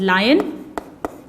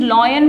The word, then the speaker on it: lion: और फिर जंगल का राजा, दैट इज लायन। इसे कई स्टूडेंट्स लॉयन बोलते हैं। This is actually pronounced as लायन।